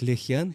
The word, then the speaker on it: Лихьян: Это слово произносится как Лихьян, так и Лахьян.